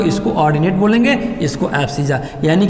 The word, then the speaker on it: abscissa: हिंदी में प्रोनाउंसिएशन होगा एब्सिजा, कुछ लोग एब्सिसा भी कहते हैं। एब्सिजा बोलो, एब्सिसा आपकी बात, मैं एब्सिजा बोलता हूँ, ABSCISSA, एब्सिजा।